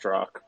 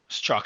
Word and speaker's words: Strzok: Zork, I think, worked at Twitter by the looks of it, because they said there's two people at Twitter. Mario, for what it's worth, it's pronounced Strzok. Strzok, thanks, bro.